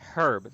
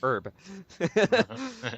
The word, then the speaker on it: herb: And it's herb, not herb. Herb. You don't say Herbert. You don't say Herbert.